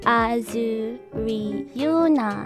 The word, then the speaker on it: AzuRyuna: My name is AzuRyuna. It's pronounced AzuRyuna.